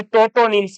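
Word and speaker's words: tautonyms: किसी जीव का वंश और जाति दोनों का नाम समान हो तो उसको टोटोनिम्स कहा जाएगा। क्लियर है बात? यहां पर टी साइलेंट नहीं है, ध्यान रखना इस बात का।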